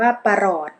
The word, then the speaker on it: ปรอด: นำ อักษร ต่ำ เดี่ยว ป ปา จะ ออก เสียง สระ อะ เพียง คลื่น เสียง ส่วน ร เรือ จะ ออก เสียง ห หีบ อ่าน ว่า ปรอด ข้อ 2 คำ ใน